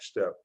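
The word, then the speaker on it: Steppe: it and it's interesting the name is pronounced step because we do provide a step in the right direction because of him he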